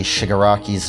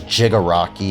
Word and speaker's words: Shigaraki: I think at one point in the episode he says Jigaraki instead. Really, Boomstick? Was it so hard to learn how to say the character's name before recording? Is it really that hard to say Shigaraki?